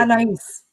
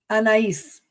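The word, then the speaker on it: Anaïs: playing the character of Anias, I might be mispronouncing the name here, so forgive. Anise, say it again. Anise.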